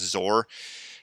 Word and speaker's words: XOR: It's just X-O-R, and that's read as Zor.